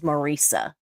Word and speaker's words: Marisa: Yeah, I know I started saying Marissa now, but it is Marissa. That's how her name is supposed to be pronounced, and she's very, you know, serious about that.